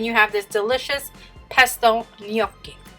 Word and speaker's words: gnocchi: you're done then you have this delicious pesto yoky it's such a weird word right but that's how you pronounce it yoky so um yeah so then you just have